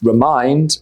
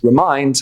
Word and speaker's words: remind: Both remember and remind stress the second syllable. So it's remind and remember. Remind has an I sound, remind. Whereas remember has an E sound, remember.